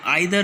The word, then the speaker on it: either: क्या कहलाता है आपका, जो आइदर है वो कहलाया जाएगा आपका ब्रिटिश इंग्लिश में, ठीक है, ब्रिटिश इंग्लिश का प्रोनाउंसिएशन है, और ईदर जो है इसका अमेरिकन इंग्लिश में प्रोनाउंसिएशन है, ओके, बोथ आर राइट।